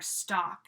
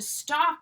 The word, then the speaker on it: stalk: platform Facebook stock or stock in general we don't pronounce the L there to stock someone is to follow